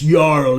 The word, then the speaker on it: jarl: It's spelled like Jarl, but it's Jarl. It's Norse.